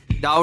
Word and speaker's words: डाऊ: डाऊ डाऊ का उच्चारण द्वीप जैसा।